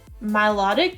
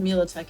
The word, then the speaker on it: Milotic: ones the crocheted ones my Milotic that's how you say it yeah I always said militech in my head and now I can't undo it Dragonite nice so Drake